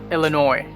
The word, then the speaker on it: Illinois: this one illinois illinois notice the s there it's not pronounced it's just illinois iowa iowa louisiana